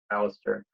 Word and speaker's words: Alastair: crazies my name is Alastair I'm an evil scientist my name is pronounced like Alistair hello middle my favorite